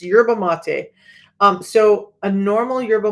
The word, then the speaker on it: yerba mate: wrong because I heard somebody else say it wrong but it's and I looked it up you guys I'm really good this is part of my autism I will look up words for the pronunciation before I come on because I don't want to mispronounce words but it's yurba mate um so a normal